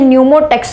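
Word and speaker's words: pneumotaxic: और प न्यूस्ट का नाम है न्यूमो टेक्स पी साइलेंट है और एक का नाम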